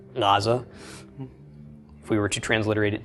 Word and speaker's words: Gaza: So it's responsible for names like Gaza. It's actually Gaza.